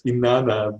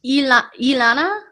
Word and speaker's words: Inanna: Sorry to correct you. It's Inanna, the goddess. Ilana?